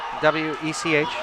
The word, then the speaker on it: Wech: How am I pronouncing this? Which one? W-E-C-H. Wech. Wech. Yeah, you're good.